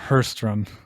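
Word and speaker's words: Sjöström: to butcher the swedish i believe it's a victor hurstrom it's like an h okay yeah okay okay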